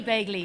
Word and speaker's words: Begley: her here so welcome to Detroit Begley sorry about that and I'm glad to have you here did I pronounce that right you you you were close Bley corre Bley and I'm from Cork so